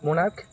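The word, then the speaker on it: monarch: Correct plural form of মোনাার্ক ইজ মোনাকাস।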